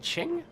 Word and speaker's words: Qing: sort of form the qing dynasty I am told that's not actually how it's pronounced it's perhaps more like ching ching ching what are